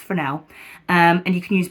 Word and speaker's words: Fresnel: fresnel um then that will help but it's pronounced for now um and you can use barn doors on